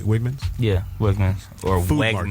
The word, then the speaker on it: Wegmans: And so I did pronounce it right, Wegmans? Yeah, Wegmans or Food market. Wegmans.